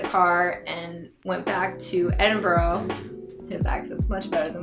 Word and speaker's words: Edinburgh: Yeah, it looks like Edinburgh, but the Scots pronounce it Edinburgh.